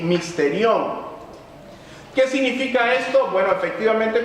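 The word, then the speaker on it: μυστήριον: Misterio viene de una palabra griega que se pronuncia más o menos así, misterión.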